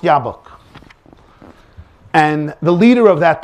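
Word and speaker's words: Jobbik: jabba it's it's written in jab book it's pronounced yabuk and the leader of that party is a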